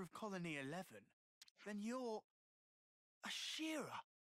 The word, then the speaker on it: Ashera: colony 11 then you're Shira I thought it was ashra but I know Ashraf from one piece and that's not how it's spelled I was wrong why in the Queen's